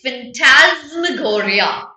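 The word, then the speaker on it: phantasmagoria: okay how do you pronounce the word the pronunciation is fantasmagoria it comes from the word fantasy what is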